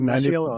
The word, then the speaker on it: Masiello: with the great Masiello. How are you? I'm excellent. Thanks for having me. I can't wait. How'd I do with your last name? Was that like 90%? Masiello. That's exactly right.